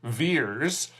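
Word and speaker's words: Vers: by the name of veers ve RS veers it rhymes with years and that's played by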